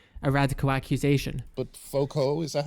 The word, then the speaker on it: Foucault: But Foucault, is that how you pronounce his name? Foucault, yeah.